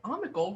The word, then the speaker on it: Omni Gold: top that you know omni gold rhymes with comical beautiful we'll never forget it